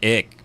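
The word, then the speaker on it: Icke: know if I think in America it's pronounced ick but in England it's pronounced Ike because it's i c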